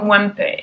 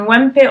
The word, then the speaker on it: Wempe: The pouch is from Wempe, and Wempe, or maybe Wempe, because it's Germanic kind of pronunciation.